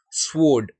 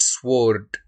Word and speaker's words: sword: For example, the alphabets that go silent when it comes to pronunciation of different words. For example, it is sword, not sword, right?